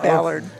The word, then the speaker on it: Ballard: Probably Bullard. Is that how you say it, Ballard? No. No, keep it's saying actually it's supposed to be Ba- Ballard.